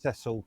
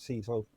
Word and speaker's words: Cecil: Just on the minor And point, now, his name is pronounced Cecil, not Cecil.